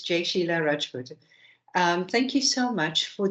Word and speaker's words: Jai-Sheila Rajput: I'm hoping I'm pronouncing this correctly. Please pose your question. Sure, it's close enough. It's Jai-Sheila Rajput.